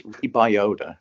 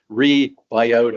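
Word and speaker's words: Rebyota: you say it that's reiota so the Y is like an I sound so it's rebiota and the GI that's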